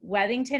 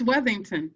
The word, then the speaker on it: Worthington: say your name wrong i feel like weddington or she muted it's worthington thank you okay i